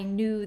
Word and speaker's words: knew: n Sound and remember we have a silent k today so k n makes the M sound in New what's the second sound you